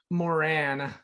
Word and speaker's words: Moran: Pacheco and today with me I have Brooke Moran Brooke am I pronouncing your last name right that was actually